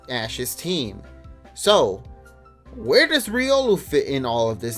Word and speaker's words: Riolu: a Riolu, or Riolu, however you want to pronounce it. I don't even know. Riolu. It's Riolu.